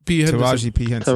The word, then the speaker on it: Taraji P. Henson: Taraji P. Henson.